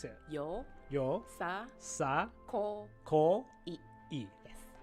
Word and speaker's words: yosakoi: you say how do you say it yo yo sa Co e yes yo sa Co e you got it got it next question would